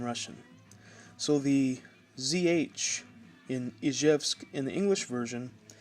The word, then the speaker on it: Izhevsk: So the ZH in Izhevsk in the English version, you pronounce that like the S that you would say in the word vision.